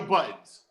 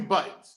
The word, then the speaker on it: Budden: First of all, it's Budden. His name is Joe Buttons. As I'm pressing the buttons on my camera or my computer. Now, because of reality TV, when they had to spell it, he spells it Budden, but it's Joey Buttons.